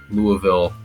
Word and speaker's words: Louisville: which, by the way, it is pronounced Louisville. Louisville, yeah. If you're in Louisville, if you're in Kentucky or the surrounding area, if you're from the north or the Midwest, it's Louisville, like Louisville Slugger.